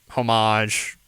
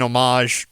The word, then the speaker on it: homage: So as kind of a homage, I think the H is silent in that. Anyways, as kind of an homage to a series of